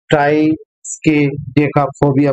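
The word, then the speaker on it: triskaidekaphobia: बहुत ही मजेदार वर्ड है, इसका प्रोनाउंसिएशन करना ट्राइस्केडेका फोबिया। प्रोनाउंसिएशन देख लीजिए, ट्राइस्केडेका फोबिया, यानी कि नंबर 13 का जो डर होता है उसे ट्राइस्केडेका फोबिया बोलते हैं।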